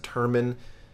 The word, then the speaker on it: Turmon: Again, follow Chaz at Chaz Turmon.